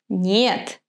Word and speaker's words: не: form sent они играют Нет они не играют The correct pronunciation is gna be они не играют Remember не is unstressed Here be они не